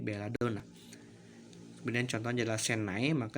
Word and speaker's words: Belladonna: Kemudian huruf N yang dia double atau N-nya ada 2 maka dibaca menjadi 1 N-nya. Contoh Belladonna maka dibaca menjadi Belladonna.